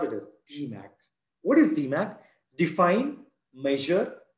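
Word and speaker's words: DMAIC: Just pronounce it as DMAC.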